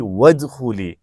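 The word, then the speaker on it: ادخلي: ہیں فادخلی فی عبادی وادخلی. وہاں ہر جگہ ایک جگہ فا گیا، ایک جگہ واو آ گیا تو حمزہ سائلنٹ ہو گیا، لیکن ارجعی میں سائلنٹ نہیں ہوا چونکہ وہ سٹارٹ میں تھا.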